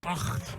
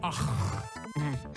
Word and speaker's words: Ach: Ach, that's German. Yeah, see, you have to use all the spit in your esophagus. Ach. The more spit, the better it's pronounced.